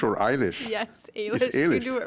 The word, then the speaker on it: Ailish: scientist and colleague Alish Sullivan is the I pronounce it correctly Alish or Alish yes Alish you do it right yeah okay Alish Sullivan who is a former Bachelor uh honors